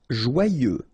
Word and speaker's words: joyeux: Joyeux. Final X not pronounced, and then joyeux. Okay?